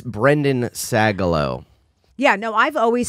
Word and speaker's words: Sagalow: yeah will you marry me yeah it's brendan sagalo yeah no i've always said your name right